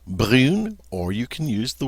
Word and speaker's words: brune: But once we add that E, the UN loses its nasality and becomes pronounced just regular. And so with the E, we pronounce it brune.